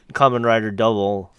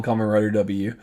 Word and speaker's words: Kamen Rider W: that's true to the kind of like how Kamen Rider double is yeah double you don't pronounce a come and rider W right you